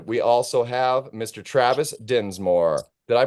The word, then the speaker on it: Dinsmore: Travis Dinsmore. Did I pronounce that right, Travis? yes, you did. Surprisingly enough. Amazing. Yeah, everybody thinks it has an E in it, so they're like, "Oh, Densmore."